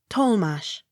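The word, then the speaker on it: Tollemache: d e m a tatamar accent on first syllable t o l l e m a c h e tolmash t r a f a l g a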